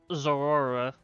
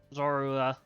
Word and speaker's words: Zorua: That's the uh Trist is the uh Zora. Zorua. I I can never pronounce that correctly.